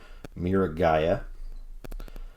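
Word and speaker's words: Miragaia: looking guy who i have learned that you pronounce his name mira gaia and yeah so he's basically a long-necked stegosaurus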